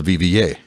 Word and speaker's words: Viviers: now I don't think you said it right vva let me look at this no no it's it's the it's called v-i-v-i-e-r-s but it's pronounced the vva are viviers pause okay pronunciation check you are